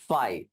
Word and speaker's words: phi: ठीक है, फाई angle PHI करके लिखते हैं बेटा, हाँ, प्रोनाउंसिएशन फाई है उसका।